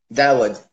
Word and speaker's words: Daoud: Daoud.